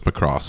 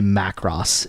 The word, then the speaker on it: Macross: and I say look if I wanted to say it like the Japanese I'd say makuu dosoo every time and I am NOT about do that so it's Macross I hate I hate when people say Mack Ross even Matt's probably right